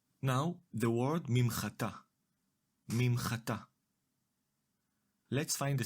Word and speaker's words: מִמְחָטָה: Now, the word mimchatá, מִמְחָטָה. Let’s find the syllables. The first syllable is ‘mim’, the second syllable is ‘cha’ and the last syllable is ‘ta’. The syllable ‘mim’ is composed